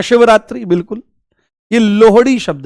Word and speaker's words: लोहड़ी: आपने यहां पर बोल दिया लोहड़ी ठीक है लोहड़ी ये लोहड़ी है ठीक है इसका उच्चारण गलत करते हैं लोग एक ऐसी रील